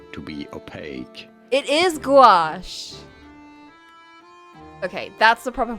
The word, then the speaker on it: gouache: How do you go about pronouncing it? Gouache. Gouache. Gouash. Gouache is designed to be opaque. It is gouache.